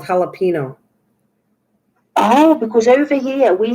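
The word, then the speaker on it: jalapeño: because it's jalapeno because the j in mexico and spanish is pronounced h so that's why it's called jalapeno oh because over here we say jalapenos and it's not it's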